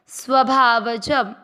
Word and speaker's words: स्वभावजम: आधे स के साथ व पूरा स्व भा व में हम मिक्स करेंगे स्वभाव। ज पूरे के साथ आधा म जम स्वभावजम।